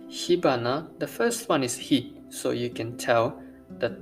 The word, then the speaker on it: 火: Today's kanji, hi. As you can tell, hi, that's kunyomi.